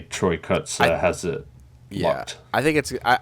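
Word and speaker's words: Kotsur: But for right now, I would say Troy Kotzer has it locked.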